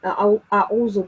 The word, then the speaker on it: أعوذ: of students do with a'udhu billah. The ayn sound in a'udhu, you have to pronounce the ayn sound from the throat.